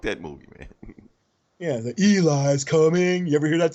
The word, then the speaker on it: Eli: You Eli. named after Denzel Washington movie, Book of Eli. Nobody knew that shit back when I was in school. It was like they always mispronounced my name. Ellie, Ely, Elias.